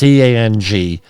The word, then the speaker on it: Tang: a journalist, Louisa Tang, or it may be Zhang. It's Tang. Often that's, in my experience, that might be pronounced Zhang, but it's spelled Tang in English.